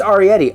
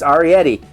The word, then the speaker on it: Arrietty: arietti parietti arietti ari how do i not know it's arietti i a-r-r-i is ahri i have a bunch of re lights and uh you know film gear i should know that it's arietti how is that just